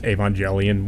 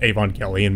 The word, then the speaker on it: Evangelion: It kind of gives me an excuse to where Robin Williams is talking about Neon Genesis Evangelion, which is pronounced Evangelion, but he pronounces it Evangelion.